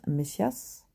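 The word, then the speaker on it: Μεσσίας: Mince, j'ai vu ça là prononciation grisse messias.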